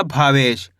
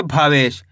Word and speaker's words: भावेश: भा में आ की मात्रा भा, वाह में एक की मात्रा वे, श तो मिलके बन जाएगा भावेश। कैसे पढ़ेंगे? भावेश।